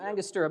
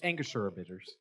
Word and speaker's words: Angostura: bit of bitters am i wrong that is angostura which angus as i pronounce it incorrectly that's all right that's all